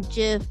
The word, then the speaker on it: GIF: of like this meme GIF breakout star is that I pronounced I thought it was gift like giraffe so okay some people say give I say GIF I think peanut butter